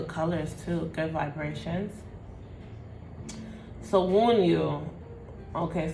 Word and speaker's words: Wunjo: So wound you. Okay, so wound you. All right, so that's how you pronounce it.